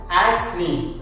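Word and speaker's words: acne: ഒരു ചാഞ്ചല് ഉണ്ടാവാൻ സാധ്യതയുണ്ട് ഇതാണ് അതിന്റെ ഉച്ചാരണം ആക്നി ആ ക് ന് ഇ ആക്നി അതായത് ചെറുപ്പക്കാരുടെ ഇടയിൽ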